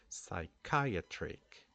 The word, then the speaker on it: psychiatric: alone the fact that we don't pronounce the the P sound here we start the pronunciation with the S sound psychiatric good and then we